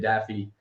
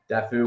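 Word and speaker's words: Daffue: I'll go to um MJ Daffy dafu whatever you want to pronounce it I'm pretty sure it's Daffy um I played with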